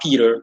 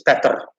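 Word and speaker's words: Petr: in russian too right the e is subtracted and it's just better it's not peter it's better it's better in in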